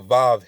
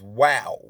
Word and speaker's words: Vav: Because V didn't have the V sound. It was the W sound. So it should read Yod Hey Wow Hey, not Yod Hey Val or Vav Hey.